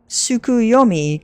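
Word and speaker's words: Tsukuyomi: It is pronounced sukuyomi. Correct.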